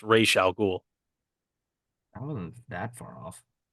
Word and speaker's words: Ra's al Ghul: It was it was Raz Al Ghul, even though it's pronounced Ra's al Ghul.